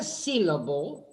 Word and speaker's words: syllable: Mira, en la palabra syllable, ahí tenés las dos L's. Syllable, the first L is clear, the second L is dark.